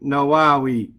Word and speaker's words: النووي: An-Nawawiyyah, and it's permissible, even though it's not written here, it's permissible to pronounce his name Nawawi.